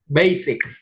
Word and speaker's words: basic: yeah, it's S. Ví dụ như trong music chẳng hạn thì nó là music, chữ S nó được chuyển thành chữ Z, nhưng mà ở đây basic thì nó vẫn là basic.